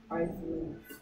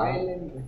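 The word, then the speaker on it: Iceland: 아이슬란드. 나 아니라니까. 아일랜드. 아일랜드. S가 뮤트죠, 뮤트. 아일랜드야. 이즐랜드도 아니고. 아일랜드 S가 소리 안 나.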